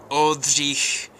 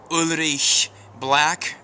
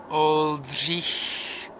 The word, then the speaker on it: Oldřich: Oldřich Černý, or Ulrich Black, or Ulrich Black if you're, you know, an Anglophone and you can't do the ch sound. Let's do it again. Ch, Ulrich. Ready? Oldřich. That's how you say it.